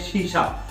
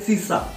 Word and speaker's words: शीशा: कई लोगों की बहुत गलती होती है, जैसे कि बोलना होता है शीशा और वो बोलते हैं सीसा, और बोलना होता है जमीन तो बोलते हैं जमीन।